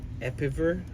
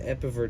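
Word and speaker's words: EPEVER: Is that how it's spelled? E-P-E-V-E-R? Epiver? Tracer? And a series. Are those 2 different things? What's an Epiver tracer?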